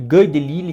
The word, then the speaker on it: Guy Delisle: Do Guy Delisle, como costumam pronunciar, porque ele é francês.